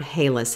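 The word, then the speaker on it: ἅλας: And salt here is the Greek word halas. It's spelled H-A-L-A-S in the Greek.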